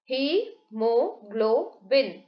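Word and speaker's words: hemoglobin: correct देखें यहां पे हीमोग्लोबिन डी वर्ल्ड प्रोनाउंस कैसे करेंगे इसको ही मो ग्लो वीं डी ब्लड अलसो ट्रांसपोर्ट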